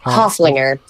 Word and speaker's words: Hoeflinger: right in the uh the intro to hoeflinger hofflinger yeah it's yeah it's that it's an unfortunate one